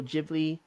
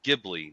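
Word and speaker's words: Ghibli: ] GIF okay because I always hear Studio gibli not jibli oh okay you wrong I'm just saying that's what I hear studio jibli studio gibli I don't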